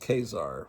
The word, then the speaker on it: Khazar: So Khar, which is supposed to be pronounced Khazar, which a little pun from Stan Lee that name.